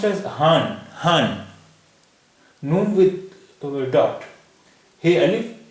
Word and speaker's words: हाँ: Noon without a dot is called noon gunna, and its sound and the sound of noon gunna is nasalized.